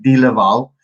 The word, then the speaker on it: Delaval: called seton delaval so they pronounce it delaval but it's like d-laval they've got this huge